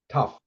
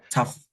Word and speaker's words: tough: yes thought yeah and this is here is pronounced pu Puff tough tough yeah tough yeah as as if it was spelled TF